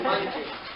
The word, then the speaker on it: Mungin: My last name is Mungin. When people see it, they cannot pronounce it.